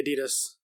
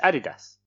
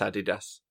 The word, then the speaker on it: adidas: yeah well if you ask the company themselves they would say adidas no that's what the American branch say the German branch where it's from is adidas that's added us because these is the